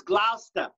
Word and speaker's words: Gloucester: you've got to understand it's gloucester like lobster it's gloucester mass gloucester